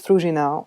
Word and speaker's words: Fruzsina: would like to introduce myself my name is fruginau or frushko it's much easier to pronounce i'm a promoter manager and i used